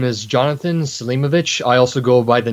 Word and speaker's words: Selimović: be what's your name my name is Jonathan Salima vich I also go by the nickname and NY is how you spell it what's the connection with the last name